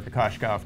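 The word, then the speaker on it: Kokoškov: There is a silent H in there. Yeah, well, it's not silent because it's Shh, Kokoslov. Yeah, I guess, so, yeah. It's not H.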